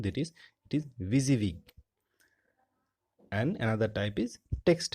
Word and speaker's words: WYSIWYG: editor and text editor the pronounciation remember the pronunciation that is busy week and another type is text editor fine WYSIWYG